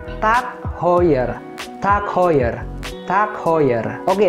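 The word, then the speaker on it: TAG Heuer: cukup terkenal juga dan sering kita sebut sebagai tag higher atau Tech hoer padahal seharusnya pengucapannya yang benar adalah tak hoer tak hoer tak hoer tak hoer oke langsung aja lanjut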